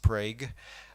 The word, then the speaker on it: Prague: no injuries no damage the 2011 Prague Oklahoma earthquake it really is pronounced Prague I magnitude 5.7 same